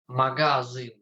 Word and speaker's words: magazyn: something like this is magazyn in Polish. Uh-huh. Yeah, so uh, sklep is shop and magazine, but not magazine because the stress in Polish language is always on the pre-last syllable.